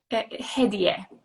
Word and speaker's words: Hedieh: Hedieh. The Hedieh. right pronunciation is Hedieh, yes.